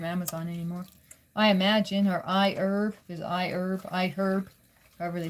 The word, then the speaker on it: iHerb: I imagine, or iHerb, is iHerb, however they pronounce it. And iHerb, I guess. They must be British. They pronounce the H in herb.